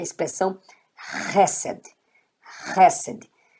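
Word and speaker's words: חסד: Então, H com E, Ré. Aqui é o Samer, que tem essa letra, ela tem o som de S. E abaixo dela você tem o Segol. Então, ó, Ré, Sé, D. Hesed, quer dizer misericórdia. Então, leia Hesed.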